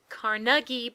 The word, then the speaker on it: Carnegie: So the long-awaited concert/summoning ritual takes place at Wait, they pronounce it Carnegie, but it's spelled...